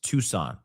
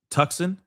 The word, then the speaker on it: Tucson: Tucson is pronounced Tucson. Did I say tux tuxen? Did I say tuxen or something like that on accident earlier?